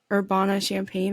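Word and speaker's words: Urbana-Champaign: finished her D1 career at University of Illinois orbana champagne that's how you say it right yep that's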